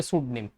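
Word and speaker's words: pseudonym: है, उसको बोलते हैं सूड नेम, सूड नेम। और ये पी साइलेंट था।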